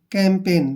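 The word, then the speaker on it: campaign: के रूप में लिखेंगे और जी का प्रोनाउंस हम यहां नहीं करने वाले हैं क्योंकि एन से पहले जब भी जी आता है तो जी का जो उच्चारण है वो नहीं होता है और एन को लिखेंगे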